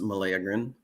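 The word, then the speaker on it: meleagrine: Well, it's actually pronounced meleagrin.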